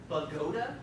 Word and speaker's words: Bogota: It's actually Bogota, New Jersey. I don't know how this works.